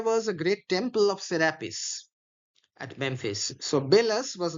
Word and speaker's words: Serapis: So, Sarapis is generally pronounced Sarapis, but Milton is uh shortening the A like the Latin poets or seat their kings when Egypt with Assyria strove in wealth and luxury.